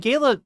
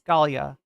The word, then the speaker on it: Galia: people um I mean Gayla literally okay so where country-wise where did Gayla come from Ukraine or Galia Galia I'm sorry I'm saying her name wrong Galia yeah you're right it's Galia uh Benjamin Santiago stuff says